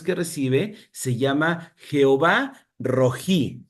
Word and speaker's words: Rohi: recibe, se llama Jehová Rojí. Se escribe R-O-H-I, Jehová Rojí, que significa el Señor